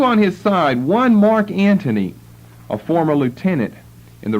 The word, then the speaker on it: Antony: the chart I believe but it's pronounced Anthony and I think more typically it will be spelled without the H his name appears once as a governor in Syria on your chart and one says the first of the three members of the second triumvirate both of which times the name occurs a-n-t-h-o-n-y I would prefer to spell it a-n-t-o-n-y Antony and Tony Anthony Mark